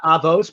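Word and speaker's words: Avot: avos because i'll vote i should say sorry i sometimes go into my ashkenazi pronunciation uh avos but whatever in um a vote by and large doesn't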